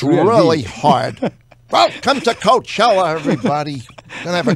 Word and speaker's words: Coachella: I had to make sure I don't pronounce R. It should be L at the end, right?